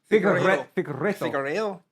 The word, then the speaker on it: Figueiredo: Davison Figueiredo. He's Brazilian, right? Is that right? Figueiredo. Is that Brazilian? Yeah, but you're pronouncing it like a Mexican.